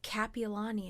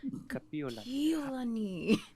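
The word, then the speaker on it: Kapiʻolani: hawaii hawaii it's also kapiolani uh people say kapiolani which is a name slash street name over here right just everyone says capilani and i'm like piolani kapiolani see i need to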